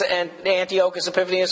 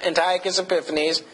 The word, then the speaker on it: Antiochus Epiphanes: And we'll see this later on at some point in time, this Antiochus Epiphanes or Antiochus Epiphanes. Like I said, you hear it pronounced either way.